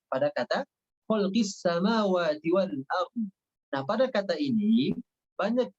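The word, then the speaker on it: أرض: Banyak yang dibaca wal ardh. Nah, boknya tidak dibaca. Maka ini kesalahannya fatal karena meninggalkan satu huruf. Maka yang tepat dibacanya ardh. A-R-D, ya, A-R-D, ardh, ardh, nya dibaca dengan tebal.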